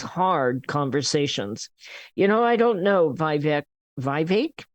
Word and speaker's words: Vivek: I don't know, Vivek rhymes with cake.